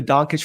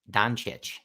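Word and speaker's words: Dončić: you laughing at me I mispronouncing his name I believe it is donit what is it donit it's it's Don I think it's donit D there is no Cas sound well fortunately for you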